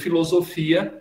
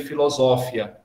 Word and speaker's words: filosofia: Mas, por exemplo, filosofia, a gente só aceita com o acento grego, não com o acento latino, que seria filosófia.